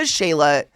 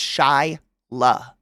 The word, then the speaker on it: Shyla: People call me Sheila, Shayla, Skyla. Your name is literally phonetic. I mean, I'm not just trying to be a pretentious cuck here. Like, Shyla? How do you pronounce that wrong? It's Shyla. Like, first guess on that one is a phonetic pronunciation.